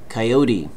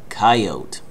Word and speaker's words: coyote: bought a new one coyote coyote or coyote coyote two different ways to pronounce the coyote is a